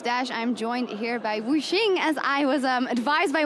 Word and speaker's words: Wuxx: I'm joined here by Wuxx, as I was advised by Wenson is the correct pronunciation, for the 80 carry for RNG after